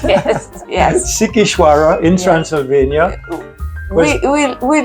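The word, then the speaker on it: Sighișoara: out with it what favorite how do you pronounce it again sikara yes yes sikara in Transylvania we we we loved it fell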